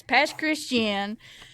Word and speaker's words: Pass Christian: I almost slipped up, but yeah, it's pass Christian. And if you're just referring to it and you're a local, it's just the pass.